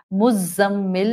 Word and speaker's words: مزمل: لینے میں اپنانا ہے۔ مزمل میں زا بزنگ ساؤنڈ والی ہے، ایک عربی زبان